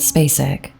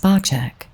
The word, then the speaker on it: Spacek: Though the family's last name was originally pronounced Spacek, it pretty soon became Spacek in America, or in Sissy's case, Space Chick at high school.